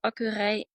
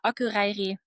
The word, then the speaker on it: Akureyri: I think it was Akureyri. I'm Yeah, not I going was to saying pronounce this incorrectly, but yeah, correct. yeah, I searched that first name. Yeah. Yeah, Akureyri.